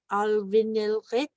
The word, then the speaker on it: alvinilrit: We have alvinilrit, alvinilrit. We have the G with the dot over it. So remember, we're going to pronounce it back here.